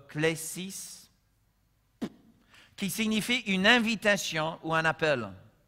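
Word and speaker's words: κλῆσις: Ça vient du mot grec qui, on prononce klesis, qui signifie une invitation ou un appel.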